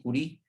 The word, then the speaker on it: Curie: que se llama yuri realmente así como ustedes lo ven aquí se escribe verdad solo que se pronuncia marie curie hay una película de